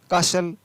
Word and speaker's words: castle: FASTN फासन, तो यहाँ पर भी टी का उच्चारण नहीं है। CASTLE काशल, JOSTLE जोशल, SUSTLE हसल, BUSTLE बसल।